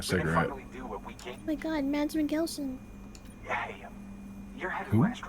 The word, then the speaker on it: Mikkelsen: It's Mikkelsen.